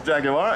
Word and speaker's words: Jaguar: Yes, 3 syllables, Jaguar, and this is a quintessential Jaguar, the 1952 XK120 Fixed Head Coupe, owned by Simon Rubin.